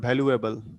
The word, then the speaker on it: valuable: You're using the word valuable like that. Okay. yes, So the pronunciation yes.